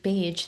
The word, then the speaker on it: Bage: Your last name, Paige, rhymes with Paige, so it's likeity.